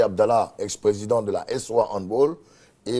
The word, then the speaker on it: handball: D'accord, Serge Dakouri, on a du mal à dire handball. Hein. Handball. Oui, handball. On peut dire handball. Ouais. C'est une prononciation. C'est plutôt allemand. Allemand. Non anglophone. Non. Voilà, c'est pas anglais. C'est pas anglais. Donc faut plutôt dire handball. Voilà.